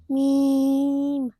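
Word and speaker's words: ميم: a lip letter but which part of the lips is me pronounced from you promised it from the dry lips which um both of the dry plates dry power of both lips okay good thank you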